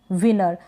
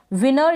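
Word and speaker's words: winner: विनर। विनर या विनर, ये दोनों ही प्रोनाउंसिएशन ठीक है। विनर इस तरीके से आप बोलेंगे तो एकदम करेक्ट होगा, विनर।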